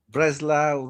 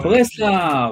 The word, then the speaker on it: Breslau: How do you pronounce it? How do you? Wrocław, Wrocław, Wrocław, Breslau, Wrocław is where. Breslav.